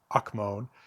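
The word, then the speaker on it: ἄκμων: I think the accent is on the first syllable there ak- akmon.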